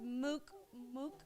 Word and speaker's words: Mook: And I have Mook with me. I'm trying to say it like my uncle, but Mook. He said it in a different way. Mook. Mook. MOOK. Mook. Make sure it's move, not muck.